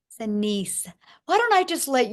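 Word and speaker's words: Shanese: Shanice. Shanice.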